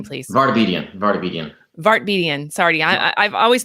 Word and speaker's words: Vartabedian: V Bryan Burk but I'm gonna say it wrong say your name please barbi diem vartabedian vartabedian sorry I I've always known him as dr.